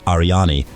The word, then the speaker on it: Aryanî: In Kurdish, this name is pronounced Aryani, but due to the influence of English, it is pronounced Aryan in academia.